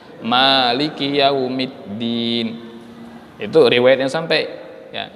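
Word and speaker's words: مالك يوم الدين: Beda dengan surah Al-Fatihah. Kalau pada surah Al-Fatihah kita membacanya maknya panjang, Maliki yaumiddin.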